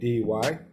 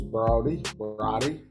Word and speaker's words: Broady: Okay, my name is officially it's Broady. That's Broady. Often mispronounced as Brody, and Brody.